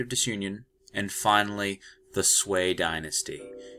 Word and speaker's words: Sui: disunion and finally the swea dynasty you see it spelled sui but it's pronounced this way it's okay so we